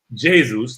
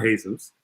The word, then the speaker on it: Jesus: with jesus coming in no jesus not jesus i'm using the spanish pronunciation versus the president pronunciation jesus and what from